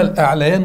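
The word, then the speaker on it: الأعليان: اوعى اوعى تنطق اعلوان دي خالص. الالف عدت ثلاث يبقى كله ياء يا باشا، ما ينفعش. انتما العاليان، لا لا لا خالص خالص. انتما الاعليان والاقويان، نعم دي صح يا رجال، بين زملائكما.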